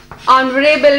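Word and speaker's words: honourable: एन ऑनरेबल man. Start किससे है? एच से, मगर प्रोनाउंस कैसे हो रहा है? ऑनरेबल, वॉवल से।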